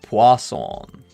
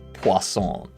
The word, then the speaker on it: Poisson: French name. Ah, Poisson. Kind of like croissant. But Poisson. So we need to get the average.